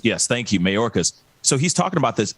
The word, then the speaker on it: Mayorkas: and i see the press briefing with uh majorca um hopefully i'm pronouncing his last name but anyway uh right marcus mayorkas yes thank you mayorkas so he's talking about this and i just